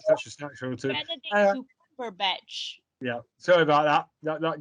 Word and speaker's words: Benedict: It's pronounced Benedict, not.